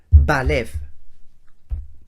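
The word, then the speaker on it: בלב: Bet, Lamed, Bet. Lo pronuncio ya en palabra. Balev.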